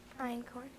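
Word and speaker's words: einkorn: Europe in corn have are there any alterate pronunciations there are none iron corn iron corn EI in start over sure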